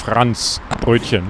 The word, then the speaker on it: Franzbrötchen: And how do you say it again? It's Franzbrötchen. Like Hans in France, you know, Yeah.